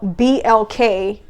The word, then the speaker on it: BLK: It's not by accident that there's some weird dating app out there that caters to the black community that's called BLK, which rhymes with MLK.